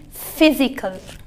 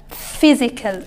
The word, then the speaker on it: physical: so it becomes physical physical okay so we write and we pronounce we have a shapes for the letters and a sounds the sound is f and this is how we write the sound this is how we